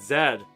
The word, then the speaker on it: Z: Um, Z is American, zed is uh UK.